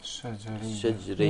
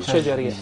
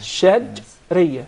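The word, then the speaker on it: شجرية: The three letters are put together in one group, which is called Shajriya. not shajariya. Shajriya. Remember, shajriya.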